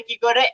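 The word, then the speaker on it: cake: যদি ম্যাজিক কি থাকে তখন সে কি করে, এক ধাপ আগে যদি একটা ভাওয়েল থাকে তখন সে ভাওয়েলের নামটা বলে, আর এই নামটা উচ্চারণই হচ্ছে তার লং ভাওয়েল সাউন্ড।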